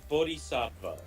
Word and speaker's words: Bodhisattva: Buddhist Saint uh yeah Bodhisattva yeah that's how you pronounce it like loosely like the actual pronunciation because it's Sanskrit is like it requires like aspirated voice consonants which are not a thing in English so I'm not gonna bother with that oh gosh I lost